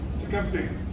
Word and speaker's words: Tecumseh: Tecumseh. Okay, Tecumseh. That's how we pronounce it.